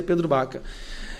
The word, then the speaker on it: Pedro Vaca: E nosso gabinete está em contato direto com o grupo do Pedro Baca, com assessores do Pedro Vaca, mas pronuncia Pedro Baca.